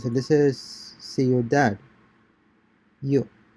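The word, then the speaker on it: ciudad: see your dad citizen concentrate on combining the two vowels into a single syllable in the manner of the native speakers okay see your dad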